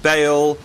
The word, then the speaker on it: Bale: mid please thank finally we got Gareth Bell make sure I say it right all Gareth Bale because the others already